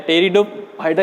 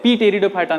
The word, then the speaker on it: Pteridophyta: या पी से स्टार्ट होता है, पी यहाँ पे साइलेंट है। टेरिडोफाइटा इसको पढ़ते हैं, पी टेरिडोफाइटा नहीं पढ़ना, इसको टेरिडोफाइटा पढ़ते हैं, ठीक है।